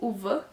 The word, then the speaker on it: Ove: Que foi Um Homem Chamado Ove, ou Uva, segundo a pronúncia do filme, do Frederick Backman.